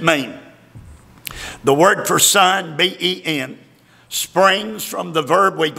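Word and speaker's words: בן: It is spelled B-E-N in Hebrew. Ben.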